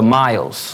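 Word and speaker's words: Myles: The Miles. Like Miles, like distance? Miles. Not distance, but think of it as how to pronounce it, but Miles, How do you spell it?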